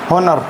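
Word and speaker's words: honour: एच ओ एन ओ यू आर एच ओ एन ओ आर ऑनर ऑनर लिखा हुआ है। ऑनर means होता है सम्मान। ठीक है? तो ओ से शुरू होगा ये भी।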